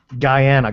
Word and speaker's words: Guyana: Did you pronounce that Guyana or Ghana? Guyana. Ghana is in Africa.